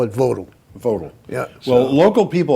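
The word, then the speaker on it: Vogtle: it's a German word and German would be pronounced Vogal Vogal fogal actually may yeah FAL V is pronounced like an F but the local people call it votal votal yeah well local people are always right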